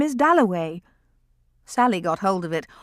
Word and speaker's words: Dalloway: somebody had brought over and Clarissa got his name wrong she introduced him to everybody as Wickam at last he said my name is delaway that was his first